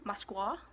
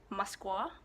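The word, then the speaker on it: Москва: their capital is Moscow in Russian it's pronounced as Moskva Moskva I pray me I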